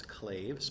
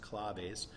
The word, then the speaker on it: claves: You may think it's claves, but it's pronounced claves.